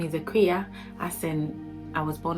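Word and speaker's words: Akua: My name is Akuya, as in I was born on a Wednesday. It just means a Wednesday born, and it is pronounced Akuya.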